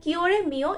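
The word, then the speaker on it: cuore mio: ওয়াই বা জেড আপনারা কিওরেমিও এক্স ওয়াই জেড কিওরেমিও এক্স ওয়াই জেড বা কুয়োরেমিও এক্স ওয়াই জেড এক্ষেত্রে প্রোনাউন্সিয়েশন ভীষণ ইম্পর্টেন্ট আপনারা কিওরেমিও বা কুয়োরেমিও এভাবে উচ্চারণ করতে পারেন একই অর্থ এবং এর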